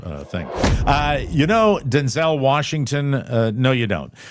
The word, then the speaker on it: Denzel: You're supposed to emphasize the den and then say Denzel. Denzel like pretzel. So if you want to know how to capture that uh pronunciation, say the den and then the zull part like you're going to throw up.